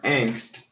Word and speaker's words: angst: So let's compare angst to audio.